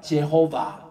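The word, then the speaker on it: Jehovah: 읽어요 여호와라는게 이게이 따라합시다 제호바 제 그게 이제 미국 사람들이 정통하게 읽는 발음이에요 제호바 이건데 이게 독일식의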